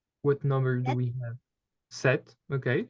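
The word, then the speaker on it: sept: number do we have set okay so here the p is silent set okay then we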